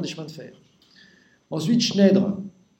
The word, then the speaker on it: Schneider: Ensuite, Schneider. Bien sûr, ça s'écrit Schneider, mais on ne dit pas Schneider, parce que Schneider, c'est en allemand. Donc en français, on dit Schneider.